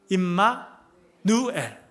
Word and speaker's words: 임마누엘: 함이라 아멘 자주 말씀드렸습니다만 임 마누엘이 아닙니다. 우리는 이제 이름이 천세종 김지은 이렇게 되니까 첫자를 떼고 이렇게 하는데 그게 아니고 임마누엘 요렇게 발음합니다.